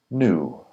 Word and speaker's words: knew: a red dress and black shoes the R is silent and British English knew the IPA is new they're both new and new I knew you were lying these boots are new in